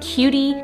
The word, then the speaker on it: Qutie: actually gifted the PRT cutie label printer I think that's how you say it it's almost spelled like quiet but it's not um and it's a